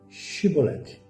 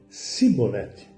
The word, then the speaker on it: Xibolete: Os gileaditas a pronunciavam chiolete, mas os efraimitas da tribo de Efraim, devido ao soltaque, diziam cibolete, não conseguindo falar igual aos de Giliade.